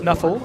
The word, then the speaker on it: NFL: an ancient tablets by something called NFL, which they pronounce Nuffle, and they have decided to resolve all of their conflicts and battles on the field of Blood Bowl.